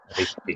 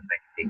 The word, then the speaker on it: richtig: Ya, Ristik ya, bacanya bukan rektik ya.